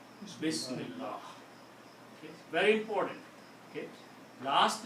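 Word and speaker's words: بسم الله: If you are going to stop, then you don't pronounce the last harakat. You just say Bismillah, Bismillah, Bismillah. But if there is a word after that, Bismillahi.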